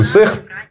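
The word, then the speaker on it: Ысыах: человеку «Исэх», пишется «Исаах», но говоришь «Исэх», и как бы очень легко произнести «Исэх». Очень будет круто, если вот все это сделать так, чтобы туристы приезжали на Исэх.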